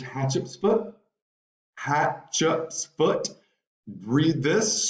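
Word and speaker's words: Hatshepsut: I will want you to know how to pronounce her name it's hatch UPS foot hat Chups foot read this super interesting story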